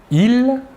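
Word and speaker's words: ils: personnel sujet tout d'abord le masculin il l'a s final ne se prononcent pas et le pronom personnel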